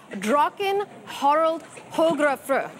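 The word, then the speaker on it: Draken Harald Hårfagre: Viking ship, which I'm going to try and pronounce for you, Einar. I believe it's Draken Harald Hogrefr.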